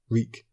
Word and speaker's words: Reek: here comes the quote reek my name is reek it rhymes with bleak he had to remember